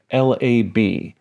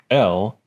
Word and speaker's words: Lab: Internally, Photoshop uses a color mode called Lab, which is pronounced Lab and not lab.